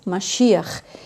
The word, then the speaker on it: Mashiach: E também o nome do Messias, que a gente pronuncia no hebraico Mashiach. Então Moisés, que é o